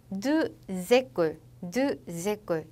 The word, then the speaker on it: deux écoles: 그 다음 deux écoles 이렇게 x도 연음이 될 때는 z 발음으로 연음해 주시고 그 다음 grand hôtel이